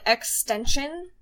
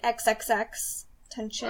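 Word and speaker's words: XXXTentacion: Did you ever listen to Extension? It's like XXX tension.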